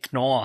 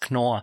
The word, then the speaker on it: Knorr: Is it pronounced Knorr? It's, I don't know. Up for debate. I'm German. I'd say Knorr. Knorr. Das ist Knorr.